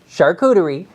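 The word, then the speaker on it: charcuterie: internet's obsession with the shuderie board and that's how you pronounce it shuderie just so we're clear but what is with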